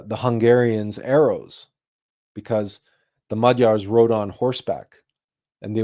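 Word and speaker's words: Magyars: And that individual was called Arpad the First and his tribe were called the Madars or Maguars if you use the English pronunciation but it's it's Majars and they settled in the Carpathian basin.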